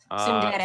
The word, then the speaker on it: tsundere: Tsundere. Sarah, the T is silent, right? No, it's like a sound kind of.